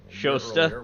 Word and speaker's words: Shasta: Shasta.